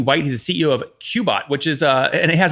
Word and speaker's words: Qebot: So it's Qebot, just to be clear.